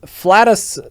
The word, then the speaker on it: Flatus: Funk flatu flute flat flattus sorry it is flattus flute that is how you pronounce that name trumpet fart trumpet a